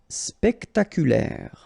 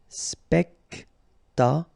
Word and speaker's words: spectaculaire: Spectaculaire. Okay, so don't insist on the final E. So l'air. Spectaculaire.